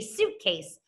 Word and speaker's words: suitcase: I see a vowel team. U-I, like in the word juice or fruit. So I'm going to color it pink. Okay, it says the ooh, the long U sound.